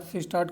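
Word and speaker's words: schist: एस सी एस सी आई एस टी करके spelling होती है। सिस्ट स्पेलिंग चेक कर लेना आप। सिस्ट बोलते हैं इसको।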